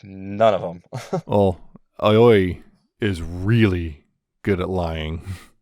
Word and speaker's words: Aoi: Oi, how do you pronounce that one? Aoi. It's A-O. Aoi.